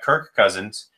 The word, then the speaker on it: Kirk Cousins: You're off to a great start because looking at the quarterbacks, he's got Kirk Cousins, I actually said it right this time.